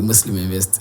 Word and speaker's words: Muslim Invest: Est-ce que je prononce bien? Oui, Muslim Invest, c'est cette plateforme qui rassemble les jeunes entrepreneurs musulmans du Cameroun et qui mène parallèlement des activités sociales.